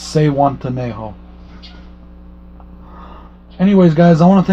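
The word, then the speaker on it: Zihuatanejo: Miss Lisa Loves, I told you how to say it in my comments on your video, but it's Sehuantanejo.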